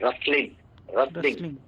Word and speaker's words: rustling: ये वर्ड रस्टलिंग नहीं है, यहाँ पे टी साइलेंट होता है, तो आप इसको बोलते हैं रस्टलिंग।